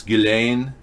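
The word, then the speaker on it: Ghislaine: likes to be called ghilane that's all the gist part is his soft it doesn't have a pronunciation it's Gil Dain Maxwell she's probably not been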